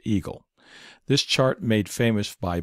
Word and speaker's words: EGLE: and energy which is abbreviated Egle and pronounced Eagle this chart made famous